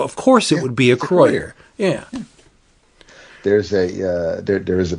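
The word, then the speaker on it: Acroyear: And that is the way you pronounce the name. Yeah, there's a Croyer is it. That's there's no two ways about it.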